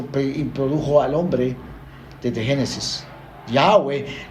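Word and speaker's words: Yahweh: al hombre desde Génesis yahwe no tiene ni acento en el principio en la primera sílaba ni en la última es Sencillamente sin acento dicen los eruditos judíos que cuando usted quiera pronunciarlo de la mejor manera posible lo haga sin ningún acento en ninguna de las dos sílabas yahwe ni yahwe ni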